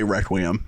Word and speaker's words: Requiem: I always want to say Reququiam, but it kind of sounds like I'm a snob at a at a library with with with a glass of wine. Reququum. I mean, I almost want you to say it like that, but I will tell you I say Reququiam, but if you want to go Reququum, I I would absolutely be open to that.